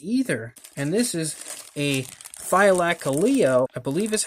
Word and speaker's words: Thylacoleo: And this is a Thylacoleo, I believe is how you pronounce the name.